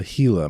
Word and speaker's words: Gila: Well, mine is the Hila monster. And I mention all that about the pronunciation because that is spelled G I L A. A little thorny for English speakers, I think. So, that is a Spanish pronunciation.